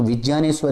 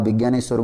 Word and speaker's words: विज्ञानेश्वर: और अगर मैं इसका शुद्ध उच्चारण करूँ तो विज्ञानेश्वर इसको हम बोलेंगे, लेकिन आप विज्ञानेश्वर बोलते हैं तो भी चलेगा, कोई दिक्कत नहीं है।